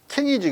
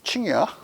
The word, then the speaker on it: Qing: 왜냐하면 영어 걔네들이 QING 써놓고 칭이라고 그러지 Q를 써놓고 칭이라고 지들끼리 약속을 해서 그러지 영어는 그런 음가가 없거든. 킹이지 그게 무슨 칭이야 발음 읽을 때.